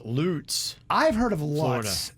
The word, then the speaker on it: Lutz: somebody had said it's loots i've heard of lots not loots lutz rhymes with putts i don't know let